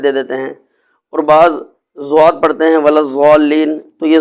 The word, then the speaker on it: ضاد: زبان لگے تو پھر لفظ ضاد میں جیسے ادا کر رہا ہوں ضاد، تو اس طرح یہ اس کا صحیح تلفظ ادا ہوگا۔ باقی بعض حضرات کہتے ہیں کہ ضاد پڑھنا چاہیے یعنی دال پڑھنا چاہیے، بعض کہتے